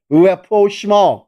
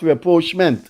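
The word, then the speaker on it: rapprochement: it's a French term Repro I know some people call it rment it is it is spelled me n but that silent is Repro not reproach so Callin if you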